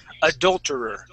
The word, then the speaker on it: adulterer: Instead of saying ado, Okay, we're going to use adul. Okay, so it's going to be a short U sound. Adulterer.